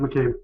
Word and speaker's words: McCabe: Drew, I don't know if I ever got the pronunciation of the last name. Is it McCabe? Yep, you got it, McCabe.